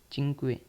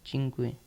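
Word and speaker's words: cinque: टी आर ठीक है पांच को हम कहेंगे चिंक पांच को हम इटालियन में कहेंगे चिंक चिंक इसको हम चिंक पढ़ेंगे पांच कहते हैं इसको हिंदी में लेकिन इसको इटालियन में हम चिंक कहेंगे पांच को ठीक है छ को हम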